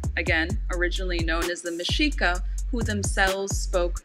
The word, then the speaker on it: Mexica: in this episode i didn't know it was mashika i said mexica uh and i mispronounced it first of all omar that is